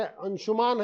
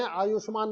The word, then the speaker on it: अंशुमान: ये हमारे अंशुमान है, आयुष्मान नहीं है।